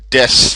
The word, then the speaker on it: D.3.S.: Here we have the Des frogs, and Des spelt with like this with the three because it has D.3.S frog, but it's just like Des frog.